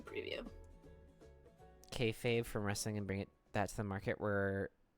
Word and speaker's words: kayfabe: Kayfabe is so interesting. Is that how you say it? Hold on. I'm gonna Google this just to make sure I'm not speaking out of my butt. Kayfab? Kayfabe. Kayfabe.